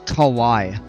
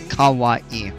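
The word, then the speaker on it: Kauaʻi: break, so instead of Kauai, it's Kauai. And it almost sounds just like Hawaii, except with a K instead of an H.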